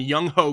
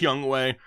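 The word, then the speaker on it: Younghoe: Got the New England defense and Young Ho Koo, even though I know it's pronounced Young Way. I'm a child on the inside. I can't not say it, Young Ho Koo.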